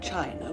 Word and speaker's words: Qin: the Great Wall of China was designed by the emperor Qin was a spur excusing I see more it is pronounced chin Thank You mr.